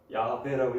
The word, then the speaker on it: 야훼: 같은 구약학교 설명 그래요 그 여호와는 자음 모음 섞어서 섞어 찌개다 그거는 사이비다 야훼라고 읽어야 된다라고 해요 근데 저는 서울 은행이